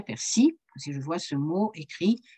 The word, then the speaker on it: persil: moi jouons un dimanche je dirais jamais persil je dirais persie ils voient ce mot